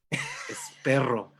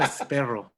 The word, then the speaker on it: Espero: be in contact with you, my man Rob Espero. Espero is okay. Espero, that's perfect. Now, Rob if I wanted to Espero. be a Latin lover, it'd be Espero. Espero. Rob Espero.